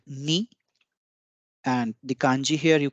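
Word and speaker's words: に: horizontal line single horizontal line two is called knee and the kanji here you can see two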